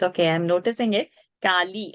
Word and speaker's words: Kali: Kali and not Kali. Lalita and not Lalita.